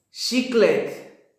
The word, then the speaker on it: chiclete: Todas las letras, todas las palabras que tengan la CH, la pronunciación es sh. Ahorita les voy a dar una lista de esas letras. Por ejemplo, chiclete, chiclete, cheirar, cheirar, chuva, chuva, chave,